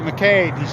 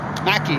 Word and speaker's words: McKay: know, McKay, Fawn McKay versus the McKay. No, Mackey, they pronounce it.